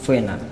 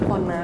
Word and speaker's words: Fona: Fena. Ya, Bener tuh pengucapan? Fona sebenarnya.